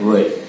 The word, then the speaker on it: would: Oke, ingat pengucapannya tidak disebutkan sound L-nya. Cukup can, could, atau will, would.